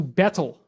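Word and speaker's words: baetyl: renamed from omphalos to betel. And it's a little funny because the AE is kind of pronounced E, so it's more like beetle.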